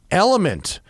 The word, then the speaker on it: LMNT: in part today by element it's pronounced element but it's spelled lmnt because it's techie right can't have vowels